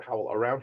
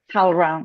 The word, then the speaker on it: HowlRound: HowlRound or HowlAround? HowlRound, right? HowlRound, yeah.